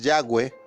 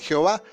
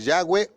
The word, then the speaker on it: Yahweh: o dijéramos ya lo enseñamos el porqué lo pronunciamos así la traducción traducción más correcta es ya ve oye jova claro en la deformación fonética y